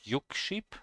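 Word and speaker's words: 육십: I don't hear the K. It's not Yukship, it's Yuship. 1분은 60초입니다. 1분은 60초입니다. Interesting. 1분은 60초입니다. 1분은 60초입니다. Yeah, okay. I will put it here. 60. And say it. 60, Yukship. Yeah, here I heard the K. Okay, so at least I remember right that the K should be there.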